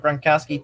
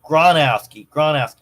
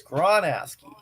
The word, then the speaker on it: Gronowski: Oh, Gronowski. I've been mispronouncing it this entire time. Oh my God. I've been mispronouncing that name this entire time. Oh, silly me. It's Gronowski.